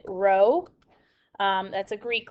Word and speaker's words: rho: you this guy here it looks like a lowercase p we pronounce it rho that's a greek letter that is for the population okay so a population correlation coefficient is rho and our sample correlation